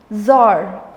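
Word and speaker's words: Czar: ज़ार, ज़रीना, English में भी ज़ार और ज़रीना, सी इज साइलेंट।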